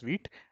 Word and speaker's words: Vite: Okay, now getting started with is pronounced as Vite.